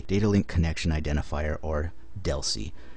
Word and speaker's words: DLCI: link connection identifier or Deli you'll see dlci almost everybody I know that I've ever heard say this pronounces as it Deli rather than sounding Out each letter of the abbreviation and the number of